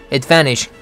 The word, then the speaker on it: advantage: Advantage. T를 죽이고 있죠. 스트레스 때문에 그런데 스트레스는 van에 들어가죠. 앞이 강하다 보니까 뒤에 있는 t가 죽는 겁니다.